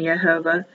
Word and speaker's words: Yehovah: Yehovah. Yehovah. Yehovah. Or Y, H, V, H is the abbreviated form. The Orthodox Jews won't say the name of Yehovah.